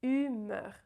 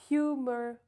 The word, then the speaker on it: humeur: So when you combine the 2 together, you have humeur, right? Humeur. So it's not humor or humeur or humour, right? It's humeur.